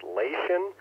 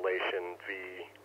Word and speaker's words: Leixen: I've actually been doing a little bit of research on the, I think it's pronounced Leixen, L-E-I-X-E-N, model VV898, the backpack model, which I think they put like an SP or something on the end of it.